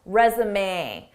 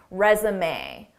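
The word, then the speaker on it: résumé: Notice how the end is pronounced, resume. This isn't typical English pronunciation because this word is borrowed from French pronunciation, resume.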